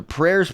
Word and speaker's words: prayer: he's aware that the prayers being made on his behalf the care prayer rhymes with care we know prayer doesn't